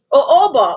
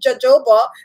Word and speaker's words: jojoba: you know later on i learned that it is um oh oba but the honest truth is i think that you should pronounce words according to your language so like for me we speak english so it should be jojoba because it's all anyway